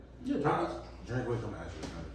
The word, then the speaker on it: Drinkwitz: That's how you pronounce his name? yeah, Drinkwitz.